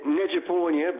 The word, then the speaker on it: Nezhadpournia: How do you pronounce your surname? Yeah, Nezhadpournia, but I'll take whichever take you want to take on it.